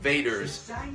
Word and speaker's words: vaders: I don't know if you can hear that, but Geen bericht van vaders fanfare, nog geen So it's spelled Vader's Fanfare, Vaders, like Darth Vader, but obviously it's pronounced Vaders.